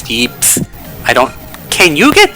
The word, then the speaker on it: yips: It's like called yips. Y-I-P-S. It was capitalized in the sub, and they also just pronounce it as yeeps.